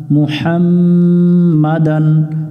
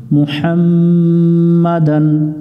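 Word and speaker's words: مُحَمَّدًا: মিলবে নুনের সাথে দান মুহাম্মাদান অনেকজন এখানে ভুল করি মুহাম্ম পড়ি ম পড়া যাবে না মু পড়তে হবে মুহাম্মাদান আমি বা এর সাথে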